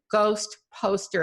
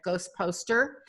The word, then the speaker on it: GhostPostr: So Greg, you jumped right on to Ghost Poster, and that's spelled GHOSTPOSTR. There's no E in it, Ghost Poster.